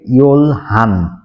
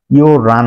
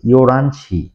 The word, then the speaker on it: 열한: করে নিল ইয়ো রান কোরিয়ানরা কখনোই 11 টাকে ইয়লহান বলবে না ইয়লহান বলবে না ইয়োরান বলবে ইয়োরানশি আছি ইওরানসি থ্যাংক ইউ ভিউয়ার্স আসসালামু আলাইকুম